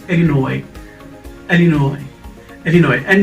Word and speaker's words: Illinois: usa uh we earnest hemingway yesterday it's not illinois so how do you pronounce it it's illinois and you know it and then we have